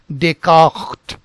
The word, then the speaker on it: Descartes: it is not Rene, it is not Rene Descartes, but something else. First, let us look into this part. Now this is pronounced as Rene, Rene, and this portion is pronounced as Descartes, Descartes.